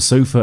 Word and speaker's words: sofa: So, we have sixwars here. Let's break it down. She, no. Bought, no. Uh, yes. Sofa, yes. Uh, yes. Chair, no. Un, yes. Uh, yes. Table, yes.